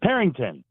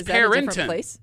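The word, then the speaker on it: Perinton: So there's no G, Mark.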